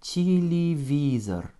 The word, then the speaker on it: телевизор: O et un R, avec un accent tonique sur le I, ce qui va réduire mes deux premiers Y en petit I et mon O final en presque petit A, ce qui nous donne en prononciation téléviseur.